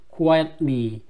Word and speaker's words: quietly: 자기 나무들 위에 노란 꽃을 가지고 있는 look 봐봐 he said 그 말했다 quiet quiet 조용한 quietly 이 트 발음이 되게 약하죠?